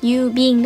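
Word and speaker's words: 郵便: Thì như mình nói lúc nãy đó, cái chữ bưu này nó có hai cái nguyên âm là ư và u đứng kế nhau thì tất nhiên là trong âm nhạc của nó sẽ có trường âm. Nên đọc là yubin đúng không?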